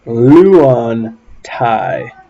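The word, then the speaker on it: λύονται: alpha yoda and so you would pronounce this luan thai and that is they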